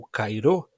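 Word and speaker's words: χαίρω: nossas traduções, em português, a palavra rara, rairô, também você pode pronunciar cara ou cairô, dependendo da gramática que você eh estuda o grego.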